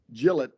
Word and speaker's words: Gillette: living in Gillette Wisconsin you are from Gillette Wyoming that's right very different pronunciations I just wanted to hammer that in right away as well yeah the extra e really changes the game right it does it absolutely does Jill it and so like what